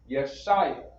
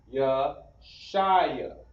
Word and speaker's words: Yeshaya: Next, we have Isaiah or Yeshaya. We have the characters Yasha, I, and Yah. We put that together, Yeshaya.